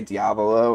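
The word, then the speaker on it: Diavolo: Yes Man uh so the Italian pronunciation of the name would be like uh uh Dia Volo uh so diabolo um I think they just say diablo in the in the series but so the the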